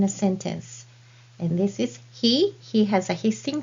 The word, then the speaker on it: へ: He, and this hiragana letter also has another sound which is e when it is used in a sentence as a destination particle.